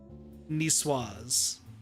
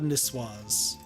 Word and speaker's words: niçoise: Proven Sol, tunid salad, niçoise. Niçoise? Yeah. No. So the CS is swa. I thought it was a hard K.